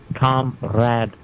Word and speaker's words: comrade: They pronounce it comrad. Comrad. I see it's spelled comrad with the e. But say it like that though.